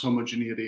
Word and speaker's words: homogeneity: to disease uh first of all it is pronounced homogeneity according to youtube i looked it up to